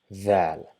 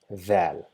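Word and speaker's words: ذال: See, the location is exactly the same for Dhal. We just touch our tip of the tongue to our top incisor and try to pronounce z, but we will not be able to pronounce z because our tongue is not inside our mouth. It is rather touching the tip of the front top incisors, so we end up pronouncing the.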